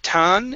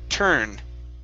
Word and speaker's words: turn: over there you go let's try turn instead of tan it's tur turn wouldn't turn over there you go much better with the r sound okay and one last